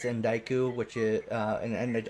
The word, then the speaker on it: Endiku: It's Endiku, which is, and Endiku is spelled ENDIKU.